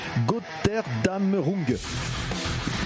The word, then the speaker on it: Götterdämmerung: Alors, la prononcer, c'est Götterdämmerung.